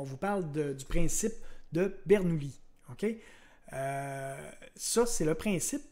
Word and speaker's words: Bernoulli: bernouilli jeu se pose si peut-être que l'italien on le prononce bernouilli moi j'ai toujours dit bernoulli donc je veux continuer avec ce côté sinon ben si en